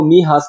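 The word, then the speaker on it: Mijas: गांव की तरफ जिसको महास कहते हैं इसको आप इस तरह प्रोनाउंस महास यहां पर एम आई जे ए एस है लेकिन ये किस तरह प्रोनाउंस करेंगे महास महास की तरफ अबाउट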